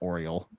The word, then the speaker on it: O10LE: The Orioles then hire a highly advanced self-learning artificial intelligence named O10LE, pronounced Oriel, to manage the team.